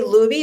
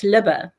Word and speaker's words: Luby: Do you say Luby? Is that your last, how do you say last name? Yeah, it's Libba.